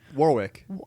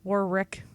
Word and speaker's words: Warwick: to pronounce so Warwick I always want to add a second R War Rick war war Rick the War